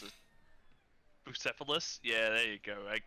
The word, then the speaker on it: Bucephalus: pronounce it. Bucephalus?